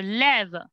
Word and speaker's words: lève: Tu te lèves vers 10 heures samedi. Te lèves vers 10 heures samedi. Tu te lèves vers 10 heures samedi. Tu te lèves. You don't need accent, right? Tu te lèves.